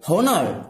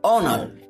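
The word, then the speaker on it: honour: যদি বলে এখানে এটা কি হোনার নো এটা হলো অনার এখানে অনার হওয়াতে কি হবে যদিও এটা এইচ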